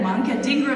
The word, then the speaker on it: Manka Dhingra: And so I would like to welcome Senator, I don't know you well yet, Manka Dhingra, because I'm so new to Washington.